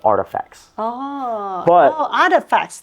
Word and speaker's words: RTFKT: internet username right so that's why it's rtfkt artifact I love the the